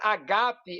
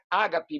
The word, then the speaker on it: agape: A palavra agape é amor em grego, não é ágape, mas agape, que é a pronúncia correta. O acento está no segundo alfa, acento agudo.